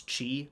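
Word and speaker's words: χ: I believe you say Chi it looks like an X but I've been told it's pronounced Kingdom Hearts Chi bat cover point is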